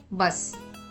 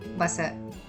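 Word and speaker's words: बस: Remember, since we do not have any matras to the last letter, it is to be pronounced as half letter. So, the answer goes like bus and not busser.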